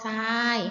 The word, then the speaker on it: ทราย: คะ ทร อา ยอ ทราย นะ คะ คำ ว่า ทราย ออก เสียง ซอ ทราย ไหม คะ ขน ทราย เข้า วัด